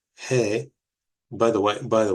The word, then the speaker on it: He: he is next and he is pronounced like this he that hey you will hear um our ashkenazic Brethren pronounce it hey we do not pronounce it that way it is he and it is pronounced like the letter H um basically most of